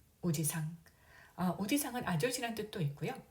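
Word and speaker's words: おじさん: 외삼촌, 친삼촌 모두 오지상, 오지상. 오지상은 아저씨란 뜻도 있고요. 발음을 보면은 할아버지 오지상과 유사합니다. 차이점은 오지상은 장음이고요. 오지상 단음이 되겠습니다.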